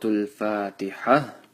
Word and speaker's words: الفاتحة: سورة الفاتحة مكية. Make sure that when you stop on Fatiha, the ta marbuta changes into a ha with a sukun.